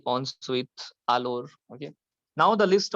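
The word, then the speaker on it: ensuite: इसका सिनोनिम होता है on sweet.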